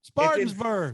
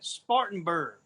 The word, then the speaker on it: Spartanburg: where are you at Spartansburg Spartansburg South Carolina what well you go first thing you gotta do is learn how to say it Spartanburg whatever you Southerners go